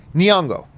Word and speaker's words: Nyong'o: He goes, think of it as saying knee, like your knee, like Knee, Nyong'o.